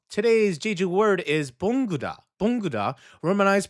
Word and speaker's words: 봉구다: 봉구다, romanized pronunciation, 봉구다, like good, 봉구다, to pick up, gather, or collect something from the ground.